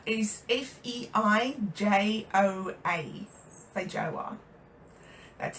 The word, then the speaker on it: feijoa: And now feijoa is Feijoa. Feijoa. That's how you spell it.